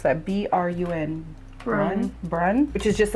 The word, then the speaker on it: Brun: How would you pronounce that? B-R-U-N.